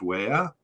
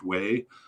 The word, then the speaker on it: Weah: By far, their most famous player is George Weah, or George Way, I've heard it pronounced.